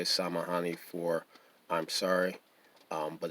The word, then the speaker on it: samahani: Excuse me is samahani. Samahani. Samahani is spelled Samahani.